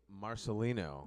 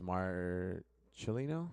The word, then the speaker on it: Marcellino: troll yeah all right we are live Marcelino yes you told me to pronounce it that way yeah cuz it's Mar chilino yes okay see you're doing great are you